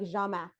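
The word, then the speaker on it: Jhamack: name was spelled um j-h-a-m-a-c-k and it was pronounced like jamac and I was like it was just and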